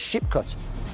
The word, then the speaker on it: Sheepcote: The Sheepcote Street, pronounced by older Brummies as Sheepcote. A cot was a cottage, and there were sheep hereabouts.